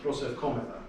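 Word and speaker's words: προσευχόμεθα: So it's prosefkometa. So you kind of keep it steady and then give a little accent and then come down again.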